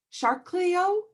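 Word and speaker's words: Chariklo: centaur and this is i think it's shark shark cleo i'm gonna spell it c h a a-r-i-k-l-o and um i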